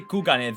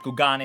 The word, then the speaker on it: Kugane: I think Hien and his Asian crew pronounce it in JP, in Japanese. Okay, so like it's probably Kugane, the OG, and Kugane is how we call it.